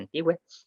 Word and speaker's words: antigüe: Con antiguo y antigua tenemos que agregar la diéresis en la u para que se pronuncie antigüe.